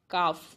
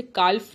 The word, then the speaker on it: calf: For example CALF, काफ, हम इसे काल्फ नहीं कहते, हम इसे काफ कहते हैं।